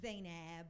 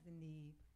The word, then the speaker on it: Zainab: It's Zainab. Oh, sorry. Hi, everybody. It's not Zanib. I don't know why people pronounce my. It's Zainab, right? Ab.